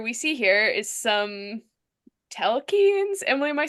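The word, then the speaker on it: Telchines: Telkines. The the the accent's on the second syllable.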